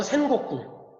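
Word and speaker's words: 戦国: 그래서 일본 발음으로 센곡구.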